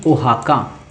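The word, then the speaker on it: Oaxaca: हाँ ये देखो ओहाना है ये, तो ओहाका सिटी, अरे भाई ओहाका, ये देखो स्पेलिंग ही इसकी एक्स साइलेंट किए हुए है, ठीक है।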